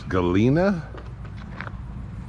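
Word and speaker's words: Galena: Believe you pronounce this Galina, Kansas.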